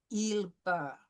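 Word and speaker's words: ils parlent: But I'm just telling you, for our purposes tonight, we will not pronounce ENT. We will pronounce il parle.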